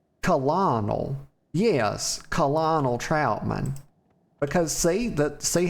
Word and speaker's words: Colonel: How about you go do it, Connell? Honor, friend. Actually, that's not even how to pronounce that. It's Colonel.